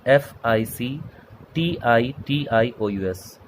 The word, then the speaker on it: fictitious: Spelling में clear कर दूँ, FICTITIOUS, एक्सेंट fictitious assets।